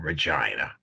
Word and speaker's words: Regina: You would have thought that hell on earth opened in Regina.